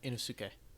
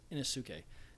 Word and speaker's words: Inosuke: I can't pronounce the names. So it's Inosuke. Inosuke.